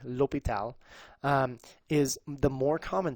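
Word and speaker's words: L'Hôpital: our new stuff though Hospital which is not correct Lal or Lal they're pronounced the same way um the new French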